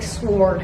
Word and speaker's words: sword: Why do I keep saying it like sword? Like the W is silent.